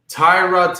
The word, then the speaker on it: Tyrod: So it's not Tyrod, it's Tyrod.